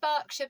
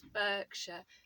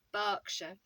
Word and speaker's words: Berkshire: which is another one of the Home Counties pronounced Berkshire but actually spelled e ER KS h ir e so if you've ever seen it written down you might have thought it was Berkshire but it's actually pronounced Berkshire and each is